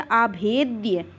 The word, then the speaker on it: अभेद्य: इसका प्रोनाउंसिएशन आप द्या से करते हैं। तो ये क्या लिखा गया? अभेद्य।